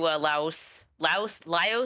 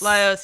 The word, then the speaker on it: Laios: Honestly, as an autistic wreck, I relate to Laos. Laios, yeah. I keep pronouncing it Laos, like Laos, like the country.